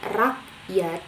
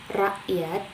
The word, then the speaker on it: rakyat: Nah, untuk K di sini melambangkan bunyi hamzah. Misalnya K tadi kami rakyat, bukan rakyat tapi rakyat. Jadi K-nya itu dijadikan huruf hamzah. Jadi bacanya rakyat.